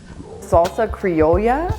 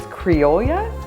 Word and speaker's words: criolla: creole grill hold on salsa crayola i made this for argentina last week and we were pronouncing it wrong so i believe it's creolea it's a little difficult to say this is different than